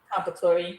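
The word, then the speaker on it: Comperatore: How do you pronounce his last name? Compatori, yeah.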